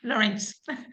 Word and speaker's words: Laurence: Laurence, is that the right pronunciation, or Laurence? Yes, it is. That's my name, Lawrence.